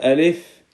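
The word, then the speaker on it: ألف: please repeat it after me this is letter alif alif so say alif alif and the pronunciation of alif is uh this letter name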